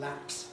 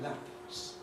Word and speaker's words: lapse: If we mean a little H sound, puff of breath, then, well, there isn't one in lapse. We certainly don't say lapse.